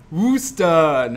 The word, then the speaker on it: Worcester: spell versus a tassinger that is not how you pronounce it it's worcester worcester it's not west west it's worcester yeah trust me we both went to school in boston it's true wooster uh peculiar republican we